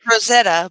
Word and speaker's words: Rosetta: even saying it right is it rieta Stone it's Rosetta but you I know what you meant rietta it's it's come on in Boston it's rietta all right Rosetta Rosetta there Rosetta but um I think